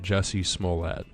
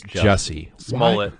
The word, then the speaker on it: Jussie Smollett: At what point did you realize that Jussie Smollett was absolutely full of shit?